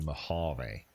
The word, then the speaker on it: Mojave: the campaign and at the battle of the mojave is how you pronounce that are you ready to see him